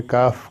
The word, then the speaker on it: calf: इसी प्रकार काफ, जिसका मतलब बछड़ा होता है, CALF, यल साइलेंट है, काफ केवल काफ पढ़ा जाएगा।